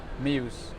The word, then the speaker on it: Meeus: or talk to Professor miramuse how do you pronounce it Muse it's a difficult point it is yeah well